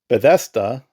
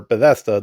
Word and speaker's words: Bethesda: So new companies, it was Majesco Entertainment, Ubisoft, U Oh my god, I always pronounce this wrong. Bethesa, Beda, whatever. Bethesda, the dudes behind Elder Scrolls, Softworks, um, Famitsu, and From Software.